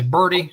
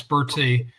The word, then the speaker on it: Bertie: They say Bertie. No, it's Bertie.